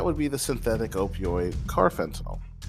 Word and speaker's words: carfentanil: be the synthetic opioid carfentinel just add the word car in front of the word fentinol I promise you you